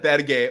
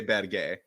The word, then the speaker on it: Berge: Berga, Berge, Xander, Sander. For the last time, he has said Berge multiple times, and that's why I say Berge.